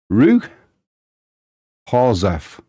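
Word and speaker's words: Ruch Chorzów: In Polish, it's approximately pronounced Ruch Chorzow.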